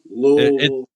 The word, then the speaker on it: Louisville: Louisville, Louisville. It's Louisville. Like up, many Aaron. people say, like you have to say it like you have marbles in your mouth, but you know that because you're from there.